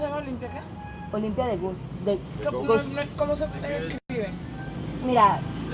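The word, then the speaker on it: Gouges: Olimpia de Gus. ¿Cómo se escribe? Mira, se escribe Gose, pero es de Guess.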